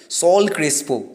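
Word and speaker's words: Saúl Crespo: দিয়ে গেছেন এই ম্যাচে সাউল ক্রিস্পো সল ক্রিস্পো মানে উচ্চারণটা এরকমই সল ক্রিস্পো তো তিনি ম্যান অফ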